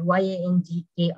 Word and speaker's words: Yangki: American Missionary School, but my name should be Yangki, so Yang, it's two syllable.